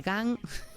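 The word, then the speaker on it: Għajn: contigua chámase, é que isto pronunciar son dúas Gs cun H-A-J-N Gan Gan Riviere Bay.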